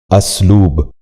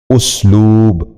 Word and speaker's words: اسلوب: بھی غور سے سنیے، استغفار۔ تیسرا لفظ ہے اسلوب۔ یہ غلط تلفظ ہے، درست تلفظ ہے اسلوب۔ دوبارہ سنیے، اسلوب۔ بچوں آپ بھی غور سے